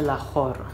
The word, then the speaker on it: Λαχόρ: να αλλάζουμε την προφορά, οπότε τα περισσότερα για αυτά είναι Λαχόρ, όχι Λαχόρης.